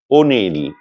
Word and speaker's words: অনিল: কিন্তু এমন কিছু শব্দ আছে যেগুলোর শুরুতে অ থাকবে কিন্তু উচ্চারণ হবে ও এর মত।